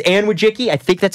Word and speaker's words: Wojcicki: Her sister is Susan and she's the Susan Susan Wojcicki. I think it's how you say it. It's Polish CEO of YouTube and